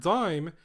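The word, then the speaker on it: disme: The word dime used to have the letter S in it. It used to be spelled D-I-S-M-E, but it was still pronounced dime.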